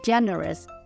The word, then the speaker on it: generous: tiết thứ nhất và generous âm tiết thứ nhất vậy đáp án của